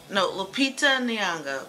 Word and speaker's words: Lupita Nyong'o: Lupita Nyong'o. That's her name. Yay, pronounced it right.